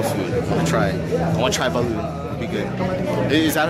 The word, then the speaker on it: balut: I want to try balut. It'll be good. Is that how you say it? Balut? Balut.